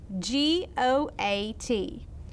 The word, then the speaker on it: goat: I see two vowels right in the middle of this word. That means it's a vowel team, and that O and the A are working together to make a sound. This time they're gonna make the long O sound.